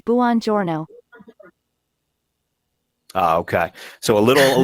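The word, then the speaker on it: buongiorno: which way is correct the first way is bonjorno and the second way is bonjourno the correct way to say good morning in Italian is Buon Giorno okay so a little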